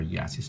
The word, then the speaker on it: Jasis: mine her name is jasis looms or yasis Looms on Instagram and I say yasis because in German J is pronounced as a y if I'm not mistaken but this is her